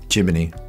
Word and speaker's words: Gemini: I learned is that some American people pronounce Gemini jiminy jiminy yes what are the